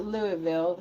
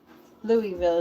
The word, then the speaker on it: Louisville: They call it Louisville is one of the one of the ways to say it. Sorry, I we've been told like four different ways on how to say it. I keep forgetting. But yeah, the um Louisville is the easiest one for me.